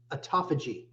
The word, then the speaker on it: autophagy: I don't even know how to pronounce it. Autophagy. Autophagy.